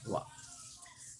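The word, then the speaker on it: は: Jadi huruf ha itu kata bantu untuk subjek, dibacanya wa.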